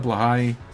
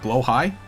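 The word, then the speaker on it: Blåhaj: Oh, Blowhigh? So it is that. It's Blahai. Something like that. The shark. The shark. The O is pronounced in some weird way.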